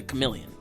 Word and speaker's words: chameleon: What I've seen her, and I describe her as a chameleon. Or is it? That's how you say it? Yeah, chameleon, you got it right.